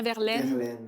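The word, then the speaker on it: Verlaine: Prononce bien verlene Verline.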